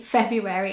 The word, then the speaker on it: February: becomes so common for people to say February that it's actually accepted to say February instead of February so yeah the correct way is February but February is accepted but if you want to say it properly say it February so I hope you